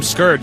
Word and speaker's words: Scourge: Note that we can see Dragoon is using the Scourge, although I should really start calling them Scourge, since that's how you pronounce it.